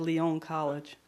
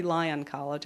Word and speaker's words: Lyon College: a very sexy pronunciation he said Lyon college but it's actually Lyon college lyo and Lyon college decided